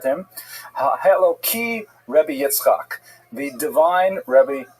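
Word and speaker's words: Elokim: And so when you're not pronouncing it in the context of prayer, you would say it with a hey instead of a kuf and Eloki.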